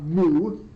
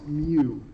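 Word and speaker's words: mu: that but it's it's it's supposed to sound like a cat not like a cow not moo it is Mew so uh with that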